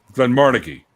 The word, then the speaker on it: Glenmorangie: That's Glenmorangie, isn't it? Glenmorangie is what it's actually pronounced.